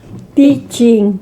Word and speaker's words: Peccin: que se fôssemos falar corretamente no italiano, Pitim. Pitim. E que depois foi tendo alterações, virou Petim. É isso. Uhum. Mas ainda pronunciamos como os brasileiros.